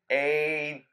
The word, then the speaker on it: Aden: First, let it be known, you've all been saying his name wrong. Besides, hey fag, he responds mostly to Aden. Oh, you fucking say it traitor. Say with me now. Aden. Dick. He doesn't want you to know, but that is the proper pronunciation.